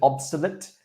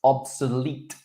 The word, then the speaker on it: obsolete: First word, you said obsolete. It's obsolete, obsolete.